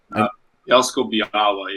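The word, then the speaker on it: Bielsko-Biała: You're playing for Bielsko Biala. Is that how you pronounce it? Bielsko Biala, yeah. The L has like a slash through it. Makes a weird sound.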